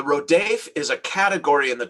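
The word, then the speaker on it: rodef: rodaf r-o-d-e-f in uh if i had to spell it phonetically the rhodef the rodave is a category in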